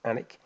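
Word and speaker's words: Alnwick: it looks like it's Alan Wicked it's it's pronounced anik now let's see I want the quarters in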